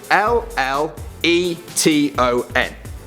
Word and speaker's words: feuilleton: But I can tell you that it's spelled FEUILLETON. Feuilleton. And if you're wondering why it's spelt like this, it's because it's French.